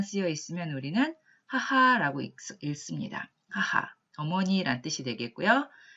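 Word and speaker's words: 母: 따라서 어미모자가 들어가 있는 여러 가지 단어들을 한번 살펴보면 먼저 어머니라고 하는 거 어미모자 한 글자만 쓰여 있으면 우리는 하하라고 읽습니다. 하하, 어머니란 뜻이 되겠고요.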